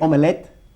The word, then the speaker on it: omelette: Se escribe omelette, pero lo pronunciamos como omelette, como dos sílabas.